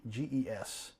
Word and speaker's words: Gentes: benches, but Gentes, Gentges. Yeah, Gent. I'm sorry, J. It sounds like a J, but it's G.